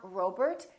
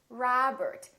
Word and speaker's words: Robert: Make sure that you don't say O. It's not Robert, it's Robert. It's not McDonald, it's McDonald.